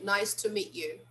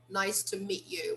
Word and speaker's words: nice to meet you: meet you observe that this final t here is silent we don't really pronounce that so strong we say nice to meet you nice to meet you we don't usually pronounce